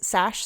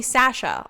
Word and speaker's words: Sash: sure um okay hi my name is sash um people pronounce my last name wrong all the time that's a fun fact and people call me sasha all the time which i really can't blame them for because sash is you know not as